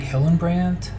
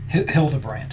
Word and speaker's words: Hildebrandt: It's the artist is Greg Hillenbrand. So pretty cool. There's a color version, and then as you can see, black and white. Hildebrandt, I think I mispronounced that the first time.